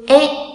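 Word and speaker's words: へ: Nhấn mạnh lại lần nữa là chúng ta có trợ từ ở đây viết là he nhưng đọc là e, là động từ chỉ phương hướng nha.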